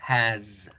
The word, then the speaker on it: has: escribo con S, pero su pronunciación no va a ser la S, su pronunciación va a ser la Z. Entonces yo no voy a decir is, digo is. No va a ser has, yo digo has. My name is Miguel. She has a dog. Has, is.